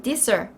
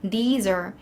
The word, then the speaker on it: these: these 같은 경우에는 this 이런 식으로 발음 짧게 하시는 분들 굉장히 많아요. 그래서 these 이렇게 발음하시는 거고요.